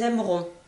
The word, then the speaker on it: aimeront: le E par contre vous pouvez entendre des Français comme moi-même qui mangeons le E et ne le prononçons sont pas par exemple je pourrais dire ils aimeront vous entendez ici je vais prononcer faire attention à la prononciation ils aimeront mais quand je vais parler au quotidien avec mes enfants je vais dire ils aimeront donc le le E ne s'entendra pas on regardera pour la